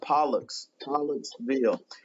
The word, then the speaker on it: Pollocksville: to me and so people be like peanutsville or they'll say something weird so it is Pollux Pollux Bill and so don't try